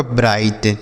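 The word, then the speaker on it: bright: तो बी आर आई को क्या पढ़ेंगे? ब्रा ई बी आर आई को ब्राई और टी से ट लिखा आपका ब्राइट।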